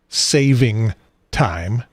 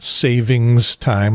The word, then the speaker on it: daylight saving time: of all i know it is daylight saving time not savings time apostrophe s or otherwise and i am so